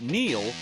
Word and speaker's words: Neil: It's no coincidence that Neil rhymes with deal because that's something you could always count on with the leader in tires and auto repair for nearly a century.